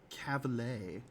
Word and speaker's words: Cavill: It's pronounced Cavill.